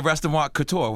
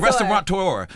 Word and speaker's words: restaurateur: I love being a restaurant couture. How do you say it? Restaurant couture. I don't know. No, it's a restaurateur. It's like a person, a person who's like, frequent restaurants.